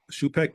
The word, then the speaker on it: Schoopack: So Shupek it is then, sir.